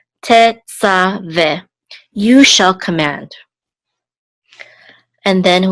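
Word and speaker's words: תְּצַוֶּה: And then the three dots says this is a segol, and this hey is silent. So this is ve. Tetzaveh.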